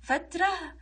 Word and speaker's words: فترة: نلاحظ ان هذه تاء مربوطة، ننطقها تاء وهاء، فترة وفترة.